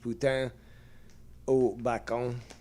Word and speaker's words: poutine: the bacon poutine. And uh it's funny because it's also spelled in um in French on the on the package. Put oon. That's how it's pronounced.